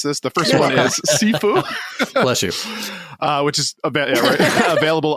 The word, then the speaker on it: Sifu: By the way, Blue, thank you for teaching me how to pronounce this. The first one is Sifu.